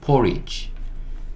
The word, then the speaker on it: porridge: 그 다음에 요 D도 거의 묵음이라고 보셔도 됩니다. 요 소리 거의 안 내요. 그리고 G인데 E로 끝나는 단어에서 E는 묵음이라고 말씀드렸고요. G2로 끝나는 것도 말씀드렸어요. G2로 어떤 단어가 끝나면 그냥 G라고 소리를 낸다. 그래서 porridge, porridge, porridge 이렇게 읽으시면 되고 porridge는 뭐예요?